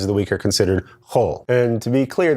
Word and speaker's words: Hol: the week are considered whole and to be clear that's pronounced kind of like whole milk or the whole Megillah except you get it when you say it Oh whenever you're speaking